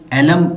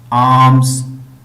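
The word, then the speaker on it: alms: खैरात, आर्म्स, आर्म्स, इसको आपने एलम नहीं पढ़ना, एलम इसकी प्रोनाउंसिएशन गलत होगी, इसकी करेक्ट प्रोनाउंसिएशन है आर्म्स।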